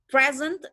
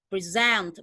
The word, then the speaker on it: present: I will give you a present, itu berarti artinya dia adalah sebuah hadiah karena dia ditekan di first syllable. And then kalau saya bilangnya I will present, berarti dia adalah verb karena dia di stress di second syllable.